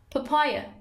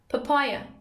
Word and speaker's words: papaya: Number ten, papaya, papaya. Stress روی سیلاب دومه, papaya, پاپایای خربوزه درختی.